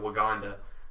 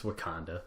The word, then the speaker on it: Wakanda: But this nation of Waganda saw that they had a natural resource, and That's not how you say it, I don't think. It's Wakanda, but Wakanda?